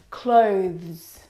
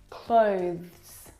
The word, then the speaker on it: clothes: one is especially difficult clothes clothes clothes now the reason why it's especially difficult is because of the two final consonant sounds the th and the plural sound now this noun